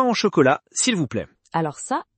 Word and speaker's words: chocolat: un son nasal et le che de chocolat qui n'est pas comme en anglais. Tout à fait. En anglais, on dirait comme dans chair. Mais en français, c'est plus doux comme dans sheep.